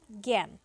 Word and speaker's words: জ্ঞান: আ এর মতই হয়েছে কিন্তু এখানে দেখো জ্ঞান আমরা যখন জ্ঞান উচ্চারণ এখানে যে আকারটা আছে এই আকারটার জন্য আমরা এ উচ্চারণ করি আমরা কিন্তু এখানে বলি